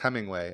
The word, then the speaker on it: Heminger: I have in my notes here, it's pronounced Hemingway.